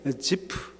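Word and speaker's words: זיף: 자, 여러분, 지난주에 이어서 10사람들이라고 발음하면 안 된다고 그랬습니다. 발음이 좀 애매하기 때문에 지프, 원래 히브리 발음으로 지프 사람들, 집이라는 그 동네에 살고 있는 사람들을 뜻하죠.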